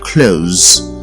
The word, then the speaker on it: clothes: and then close which is spelled c-l-o-t-h-e-s is pronounced with an o sound close and closing spelled c-l-o-t-h-i-n-g is pronounced clothing now